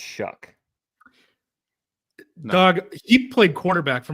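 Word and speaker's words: Shough: I don't know how you get a ck sound at the end of it.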